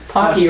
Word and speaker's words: Pocky: awkward it does sweet pocky rhymes with hockey it does alright which